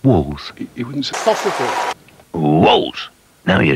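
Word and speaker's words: Wall's: M no M walls thick meaty sausages are pronounced walls he wouldn't WS now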